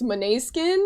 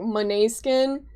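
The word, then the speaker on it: Måneskin: I'm not sure how to pronounce their name properly. I think it's Monet Skin. It's spelled like main skin, but there there's a pronunciation to I think it's like Monet Skin.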